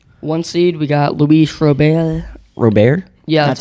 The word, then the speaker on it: Robert: runs they have one seed we got Luis robay Robert yeah that's how you pronounce it is it yeah I thought it was Robert it's okay 20 and he has 25 bombs against Ali ruchman who has 11.